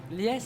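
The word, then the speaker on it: Lyes: Lies. Lies, ça s'écrit L-I-E-S L-Y-E-S.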